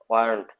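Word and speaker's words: weren't: হবে, ওয়ারেন্ট, ওয়ারেন্ট, ওয়ারেন্ট, ওয়ারেন্ট। ওয়া সাউন্ডও নয়, ওয়ার সাউন্ডও নয়, ওয়াও নয়, ওয়াও নয়, কি হবে, কি হবে, ওয়ারেন্ট, ওয়ারেন্ট, ওয়ারেন্ট। ওয়া বলবো না, ওয়া বলবো না, পুর বলে বলবো ওয়ারেন্ট, ওয়ারেন্ট।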